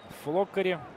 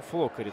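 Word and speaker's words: Floccari: А, ну вот Ре ударение ставит на первый слог. Флоккари.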